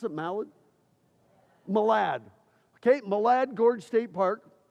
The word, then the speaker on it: Malad: And then we did see Malad, you pronounce it Malad? Malad, okay?